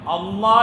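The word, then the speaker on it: الله: നാവ് തട്ടുന്നുണ്ടോ ഇല്ല ഇല്ല അപ്പോൊ എന്നതുപോലെ അള്ളാ എന്ന് പറയുമ്പോൾ മുൻപല്ലിൽ നാവ് തട്ടാൻ പാടില്ല. എന്നാലാണ് അതിന്റെ ഉച്ചാരണം ശരിയാവുള്ളൂ. ഇനി അടുത്ത പ്രശ്നം എന്താന്ന് വച്ചാൽ അള്ളാ എന്നതിൽ അവസാനത്തെ അക്ഷരം ഏതാ ഹാ ആണ് ഇനി നമുക്കൊന്ന് പോസ്റ്റ്മാർട്ടം നടത്തി നോക്കുക.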